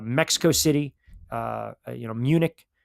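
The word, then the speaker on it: München: They are London, Madrid, um you know um um Dublin, uh Mexico City, uh you know, Munich or they properly pronounce it, Moonchick.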